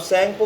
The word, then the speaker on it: Tsangpo: अब सैंगपो की स्पेलिंग आप देख लीजिए, आपको बताते हैं। सैंगपो एस से शुरू नहीं होती, टी से होती है, TSANGPO, सैंगपो नाम से चाइना में जानी जाती है।